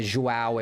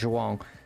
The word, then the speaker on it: João: something, and he went, that's a Portuguese pronunciation. If you don't recognize the sound, don't worry about it. You can say João if you want, but the correct pronunciation in Portuguese is João.